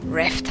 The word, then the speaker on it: Raft: Jo, ich habe es endlich mal richtig ausgesprochen, man kann es nicht glauben, aber ja, Raft heißt es.